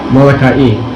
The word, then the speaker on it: Molokai: Molokai, to actually correct pronunciation.